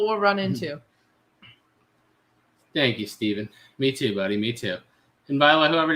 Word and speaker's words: Steven: I bet you get a lot of people calling you Stefan, don't you? It's the annoying part of having your name Steven. Like, just like me, my name's Steven, by the way, spelled exactly like that. And I get called Stefan way too much.